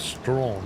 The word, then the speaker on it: Strachan: have Strachan, which is pronounced Strawn in Scotland.